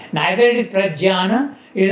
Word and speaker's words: Prajnana: In Marathi it is known as Pradnyano. Nyan म्हणतात. Nyan. In Sanskrit you pronounce it like that. Jnana, Jnana, Prajnana.